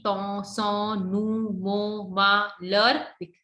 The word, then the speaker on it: leurs: So leur is plural. So we put S here at the end, but we never pronounce this. L-E-U-R-S, leur, livre.